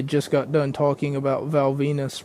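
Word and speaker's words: Val Venis: got done talking about Val Venus rhymes with my penis, and he was having shower sex rather with another guy's sister.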